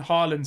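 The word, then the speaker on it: Haaland: just hit the crossbar not hland Harland sorry sorry H is a bit confusing isn't it harand just crossed just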